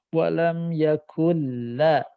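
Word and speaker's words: وَلَمْ يَكُن لَّهُ: Jadi nunnya harus total hilang secara bacaan, yang nampak lam. Ya, idgham. Walam yakulla kulla. Karena begini, kalau nun itu terdengar ada dengung. Ada gunnah. Tapi kalau lam tidak ada gunnah, nggak ada dengung.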